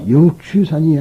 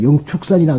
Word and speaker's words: 영축산: 바로 영추산이 아니라 영축산이라 그럽니다. 근데 불교적인 수로예요. 영축산. 근데 이것을 한문으로 취라고 됐다 해서 독수리 취자라 그래가지고 우리는 불교에서 취라고 읽으면 안 됩니다. 영축산으로 읽어주는 것이 좋습니다.